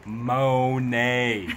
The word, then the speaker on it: Monet: No, Monet. Listen to the pronunciation.